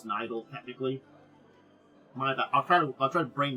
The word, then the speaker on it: Nidal: It's also pronounced, Nidal. Nidal. I keep trying to call it Nidal. It's Nidal, technically.